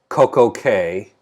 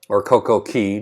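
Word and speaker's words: CocoCay: If you've seen any of the promotional materials for Perfect Day at Coco Cay, or Coco Key, depending on how you pronounce it.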